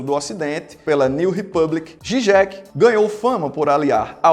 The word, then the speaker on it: Žižek: é zizek com a se pronuncia gijec solta mesmo problema que